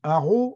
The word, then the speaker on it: Arras: la bonne ville d'Arras Arras ça se dit arrow en picard il l'écrit systématiquement avec a eu à la fin donc ça veut dire un haut qui n'est pas un c'est un arrow comme ça dans la gorge et il est donc